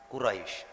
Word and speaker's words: Quraisy: Jadi cara bacanya li'ilafi Quraisy. Tidak bareng Quraisy, tidak boleh. Itu namanya kurang lain. Tidak boleh Quraisy, tidak boleh. Ya, itu kalau bacanya Quraisy itu sama halnya ada huruf alif.